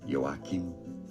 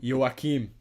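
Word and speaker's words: Joachim: Start Gee, or Yim Anderson? I would start Yoke again. I also don't know if I'm pronouncing that wrong.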